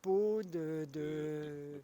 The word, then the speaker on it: Pau: la peau ou. Non, Pau, PAU, la ville Pau, de Pau. Pau, Pau. Ah non, la ville de Pau, ça se Ah, prononce Pau.